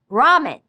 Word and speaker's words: ramen: To say a word like ramen, you put your tongue just briefly at the roof of your mouth like a soft D, then quickly bring your tongue back down.